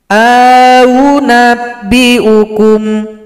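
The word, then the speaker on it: أؤنبئكم: Maka cara bacanya a yang pertama dibaca panjang dua ketukan, yang u-nya kita sama-samarkan. Au nabbiukum, au nabbiukum.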